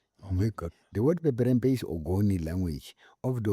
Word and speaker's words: Peperempe: What does Peperempe?